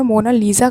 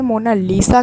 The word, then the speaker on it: Mona Lisa: से देखना मुश्किल था वैसे तो मोनालीसा को इंग्लिश में मोना लीजा कहा जाता है लेकिन इसकी इटालियन स्पेलिंग यह मोनालिका कोई से मोना लिसा कहता है कोई से मोना लीजा कहता है लेकिन इसका रियल नेम है मोना लिसा और यह पेंट और